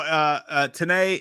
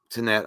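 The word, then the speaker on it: Tenet: And no, Tanae, is it Tanae or Tanette? Fuck, how do you say it? Tanette, I think.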